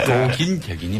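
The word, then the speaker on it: 도긴개긴: 예, 독인 개긴이 맞다고. 예, 독인 개긴의 유소희님이, 표준어죠. 예, 유소희님이 이렇게. 좀 맛이 안 사죠. 근데 예. 독인 얘긴 하면. 읽을 때도 낀이 아니라 긴인가요? 그냥 발음도? 긴입니다. 독인 개긴.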